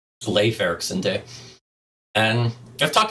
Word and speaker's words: Leif: of you wondering yeah it kind of looks to us Americans like Leaf Ericson it's actually pronounced LEF LEF Ericson day and I've